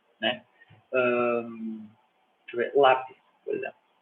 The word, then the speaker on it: lápis: Deixa eu ver, lápis, por exemplo. Lápis em português, a sílaba tônica está no lá.